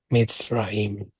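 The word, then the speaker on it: מצרים: Yetziat Mitzrayim. Okay, you got it, you got it. So the accent we're going to put on the middle syllable of Misrayim.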